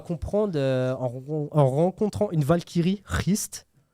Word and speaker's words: Hrist: Et il va comprendre en rencontrant une Valkyrie, Hrist, on prononce comme ça, je sais pas. Comment H-R-I-S-T. Ouais, c'est Hrist.